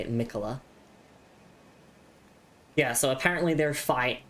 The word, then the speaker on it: Miquella: I believe that is how you say it, Miquella.